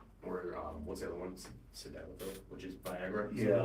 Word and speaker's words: Sildenafil: No, ball refill and, slidnafil? Is that pronounced? right? Sildenafil?